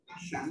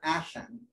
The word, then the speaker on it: Asan: And so if you say it, Asan, it's actually two S's. It's not Asan, it's Asan. So there's two S's in that.